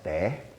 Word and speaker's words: 茶: And the region where my family came from, we pronounce the word cha as te, with the t sound.